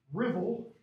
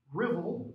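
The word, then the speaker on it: Ruthwell: stone cross okay called spelled ruth well cross pronounced rivel let's dribble without the d rivel the rebel cross and this is in dumfries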